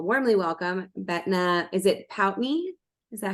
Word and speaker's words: Pountney: you to all warmly welcome betna is it pout me is that how I say your last name